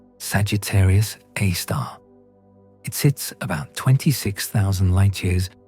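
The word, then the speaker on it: Sagittarius A*: The center of the Milky Way contains a supermassive black hole called Sagittarius A star, pronounced Sagittarius A star.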